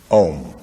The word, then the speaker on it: Om: You start at the back of the mouth, ah, and then the sound mass fills the mouth, ooh, and then it closes at the lips, When properly pronounced, you